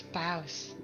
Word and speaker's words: bough: Oh my god, it's boughs. I'll fight you all. It's boughs. Google, how to pronounce bough. I know my trees, man. Yeah, no, it is bough. The mighty boughs. Bow, bow.